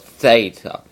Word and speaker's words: theta: their sounds and then you've got theta which is the sound as in throne not as in thee but throne so the reason why